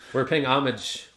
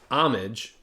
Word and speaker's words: Homage: They have a beer called Homage, even though it's pronounced homage. Homage. And so when they first opened, we kept ordering homage. And one time they were like, oh, it's homage.